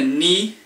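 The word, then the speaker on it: に: Ichi kind of sounds like itchy, like you have an itchy. The ni is like you have an itchy knee.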